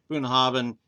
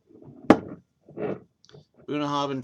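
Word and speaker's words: Bunnahabhain: Bunah Havin 12 actually I think it's pronounced with a V bunah and then Craig Alaki one's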